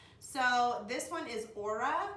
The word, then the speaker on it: Ora: so this one is Ora you can guess how you say it Oh RA so lean and so